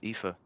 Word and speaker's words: Aoife: Got the spelling straight away of Aoife. Or how does she pronounce it? Aoife. Yeah, you said it. Okay, right. Okay, yeah, because it's I think it's an Irish name, so I'm familiar with it.